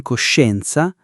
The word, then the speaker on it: coscienza: We pronounce the she in coscienza and the she in pesce the same way.